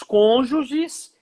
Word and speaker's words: cônjuge: Não é cônjuge, tá? É cônjuge. Então, você casa... Isso, viu? Essa pronunciação. Não, porque às vezes a gente vê o pessoal falando cônjuge, né? E é cônjuge, né?